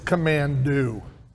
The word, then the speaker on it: Commando: right off the bat you're saying it wrong it's command do as in do play this game oh